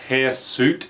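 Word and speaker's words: hirsute: men at the pool the word hair suit is used which isn't spelled like it sounds but it basically just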